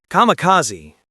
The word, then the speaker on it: kamikaze: Kamikaze, pronounced kamikaze, were a part of the Japanese special